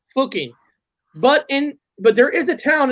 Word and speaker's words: Fucking: It's pronounced fucking, but there is a town in Australia called fucking.